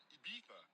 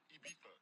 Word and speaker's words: Ibiza: I just went to Spain, that's a Ibiza. Ibiza. Yeah, it's pronounced Ibiza, actually. difference, man. Ibiza, Ibiza, you won't see me in neither.